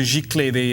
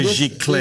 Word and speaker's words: giclée: The painting itself is a giclée. This is even more. Right. So let's explain what a giclée is. G-I-C-L-E-E. G-I-C with an accent. L-E-E, two E's, with an accent on the first E.